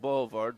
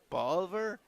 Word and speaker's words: Bolivar: I call it Boulevard, but I think it's Bolivar.